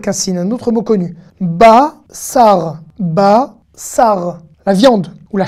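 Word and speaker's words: בשר: Safa, et ça s'écrit pas avec un samer, mais ça s'écrit avec un sin. Un autre mot avec un sin, un autre mot connu. Basar.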